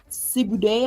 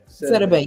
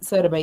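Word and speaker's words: Sidibe: And Gabrielle, I think her name was pronounced Sibude, I believe. I don't remember how to pronounce it. Sedabay, yeah, thank you, yeah, yes, Sedabay, yeah.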